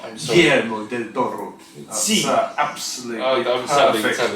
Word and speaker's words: Guillermo del Toro: Guillermo del Toro. That's absolutely perfect pronunciation.